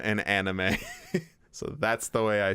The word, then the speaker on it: anime: I grew up, saying manga and anime, and then I found out that it's technically pronounced manga and anime.